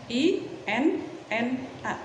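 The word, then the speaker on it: إنّا: Jadi inna, I-N-N-A, inna.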